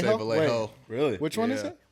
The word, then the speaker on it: Vallejo: see I see so it's more like the a the two L's next to each other for the Y valo so from Val